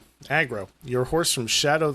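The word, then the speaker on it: Agro: Why don't we keep calling him Argo? I don't know. Aggro. I guess you could, when at first glance, you could probably mispronounce it.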